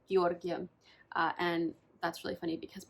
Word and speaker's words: Giorgio: had to pause because I kept calling him grigoria instead of Giorgio and that's really funny